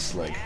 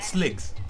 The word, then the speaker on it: Slig: That's what it's called, sligs. I never knew that. Which is like a rhyming with squid.